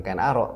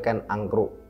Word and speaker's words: Ken Arok: Dan di berbagai video kita juga sudah kita sampaikan, memang membacanya bukan Ken Arok tapi Ken Angkruk.